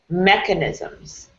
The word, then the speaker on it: mechanisms: Mechanisms. Mechanisms. Yeah, there you go. What syllable is most emphasized there? Mechmeh. Yeah. The first syllable.